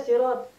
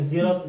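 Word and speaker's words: صراط: Al-Fatihah ayat ke-7 ini, aslinya bacanya sirot, huruf shad, tetap shad. Tetapi bacanya ada yang baca sirot, sin, ada yang zirot, zai. Tetapi penulisannya tetap menggunakan shad.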